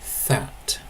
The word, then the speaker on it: þæt: When it's used as a demonstrative adjective, for example, that book, that river, that song, then it's pronounced that.